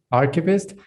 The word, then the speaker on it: archivist: first of all an archivist that's how you pronounce it archivist and you work at the university of virginia